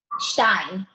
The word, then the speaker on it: Stein: Pronounce your last name because I always say it wrong. Stein. I can say that. Stein from ThermoClear. I always want to add the Y or something in there.